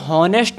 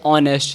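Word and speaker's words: honest: उसी प्रकार से इसे पढ़ेंगे एच ही इज़, इसे कहते हैं हॉनेस्ट नहीं बोलेंगे इसे बोलते हैं ऑनेस्ट, क्योंकि यहाँ पर जो एच है वो साइलेंट रहती है, तो यहाँ पर क्या बोलेंगे सर ऑनेस्ट।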